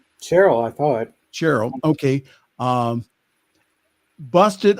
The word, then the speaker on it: Sherrill: And in New Jersey, another moderate, Representative Mikey Sherrill, is that how you pronounce it, Sherrill? Cheryl, I thought.